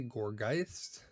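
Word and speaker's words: Gourgeist: This one I usually say Gorgeist, like Poltergeist. Gorgeist, yeah, it's got to be Gorgeist.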